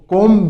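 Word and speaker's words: comb: जब भी आप कंघी या शहद का छत्ते का वर्ड यूज़ करो ना तो इसमें बी साइलेंट रहेगा। सिर्फ क्या बोलोगे? कोम। बी नहीं बोलोगे। ब नहीं बोलोगे को।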